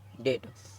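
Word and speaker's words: debt: B silent होता है तो इसमें भी टी से अगर पहले आया बी बी आया है तो वो भी साइलेंट हो जाएगा जैसे डीई बी टी तो इसको क्या पढ़ेंगे डेट और डाउन और ये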